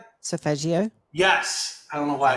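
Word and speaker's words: solfeggio: I and I here's another word I never pronounced correctly so so sofael frequencies sophagios say that again sopagio Yes.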